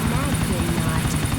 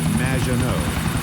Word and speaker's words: Maginot: Magdinot. Welcome to the show. Thanks, Amy. However, you have mispronounced my name. It's Madge, which rhymes with badge, as in duh, and no as in more than you. Maginot.